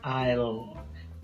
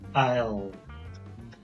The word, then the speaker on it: I'll: is not complete so it's an apostrophe and the Double L so the pronunciation is Isle Isle the same happens with